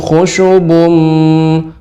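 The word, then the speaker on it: خُشُبٌ: Ibu, tidak terjadi pelambatan ketika membaca khusyubun, jadi harus dibaca ka'annahum khusyubum, demikian.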